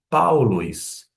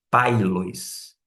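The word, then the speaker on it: Παῦλος: Mas acontece que como forma de tongo vai ter um som não de e sim de au. Por isso que você pronuncia paulois e não pailois.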